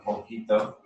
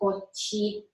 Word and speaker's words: poquito: Or then you also have poquito, poquita.